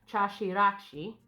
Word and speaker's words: Chaxiraxi: Before we jump into the sun goddess, I'm going to keep looking in the pronunciation key, guys. Chah-shee-rahk-see. That's a hard one to say.